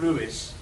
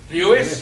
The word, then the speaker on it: Lewis: I got terrible stick from the Morse fan club because I chose to pronounce the name of Lewis, the Welsh way. Lewis, I said, and they wrote it saying it's not Lewis, it's Lewis.